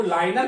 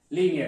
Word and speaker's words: linear: लाइन से ही लीनियर, अब वो लाइनर पढ़ना चाहिए था लेकिन उसको प्रोनाउंसिएशन में लीनियर कह देते हैं। लाइन से ही लीनियर है ये, लाइन से लाइनर है ये, लाइनर, लेकिन लीनियर बोलते हैं बोलने में, और लाइनर बोलेंगे तो